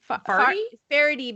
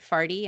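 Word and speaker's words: Faherty: he really likes this brand called farty rarity farady but he was pronouncing it farty and i think he just liked the idea of wearing something that was you know f-a-h-e-r-t-y he just liked saying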